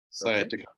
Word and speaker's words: sciatica: scatia what is statica what how do you pronounce that sciatica sciatica okay so these are all nerves problems